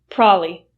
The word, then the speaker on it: probably: Most native speakers will reduce the word probably to probably. Probably, which means you don't hear the b sound at all.